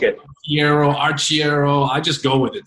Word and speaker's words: Arciero: Sisson, did I pronounce that correct, sir? Okay, awesome. Yeah, no, I know. Look, I'm Arciero. It's either Arciero, I like it. Arciero.